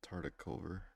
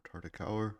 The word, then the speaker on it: Tartakower: This is the Tartakower version, or Tartakower version, depending on what pronunciation you like.